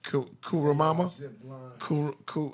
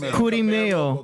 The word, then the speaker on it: Kurimeo: for how would you say his name? Kurimama? How you say it? Kumero. Kumaro. Kurimeo. Kurimeo, man.